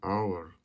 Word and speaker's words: hour: For example, an ample, an elephant, an hour. The letter H is not pronounced.